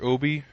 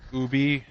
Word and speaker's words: Obi: Obi, It's Ubi. Mr. Ubi, Ubi. Mr. Ubi. She was saying it wrong. It's Ubi. It's written Obi, It's actually Ubi. It's pronounced Ubi.